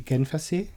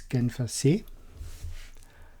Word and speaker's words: Genfersee: So the first one, and the biggest one, is the Genfersee. It's Lake Geneva. In German it's Genfersee.